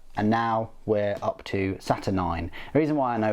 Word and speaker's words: Saturnine: by graeme mcneal and now we're up to saturn 9. the reason why i know it's pronounced saturn 9 is actually because i played bioshock recently and